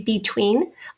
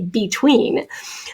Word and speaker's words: between: Some people say between. I tend to say a schwa sound there, so that E has become a schwa, but we can emphasize